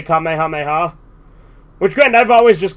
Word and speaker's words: Kamehameha: That's one thing that's interesting in Kai, because in Funimation, they pronounce it Kamehameha when they're saying it like that, but in Kai, they actually say Kamehameha.